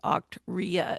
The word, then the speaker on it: Octria: Octria is how it's pronounced, and they've got some overview videos and things like that you can get a better feel for it.